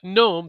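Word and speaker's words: Noem: your homeland security that Christy Gnome, I believe that's how how she pronounces her last name. Gnome.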